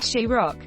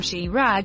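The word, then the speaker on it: Chirag: watermelon in Spanish my friend is named cherag pronounced more like Shi Rock and everyone called him Shi rag when they first saw his name not bad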